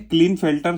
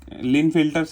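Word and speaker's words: Klinefelter: reproductive organ बाद है क्लीन फिल्टर syndrome या लिन फिल्टर सिंड्रोम ऐसा प्रोनाउंस किया तो भी चलेगा तो उनमें क्या हो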